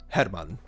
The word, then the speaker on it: Hermann: will be using the German pronunciation for uh Hermann for his name and I